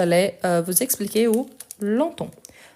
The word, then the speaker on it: longtemps: Donc je l'ai euh vous expliquer où longtemps. Longtemps attention parce qu'il on écrit tout ensemble. On ne prononce pas le G. Il y en a on ne prononce pas non plus le PS.